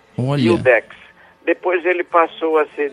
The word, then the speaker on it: iudex: momento no país isso juiz no latim clássico era dito iudex udex básico pronunciava esse J Inicial com o som de i iudex depois ele passou a